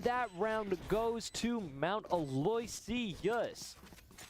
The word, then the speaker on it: Aloysius: All right, I have just been informed by my production that it is pronounced Aloy, not Aloyas.